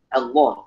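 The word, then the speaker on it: الله: Tapi kalau untuk mengucapkan lafaz Allah dalam Al-Qur'an bacanya yang benar. Allah. Jangan Allah. Semuanya tebal semua, jangan. Jadi alifnya mesti ditipiskan, ditarkikan.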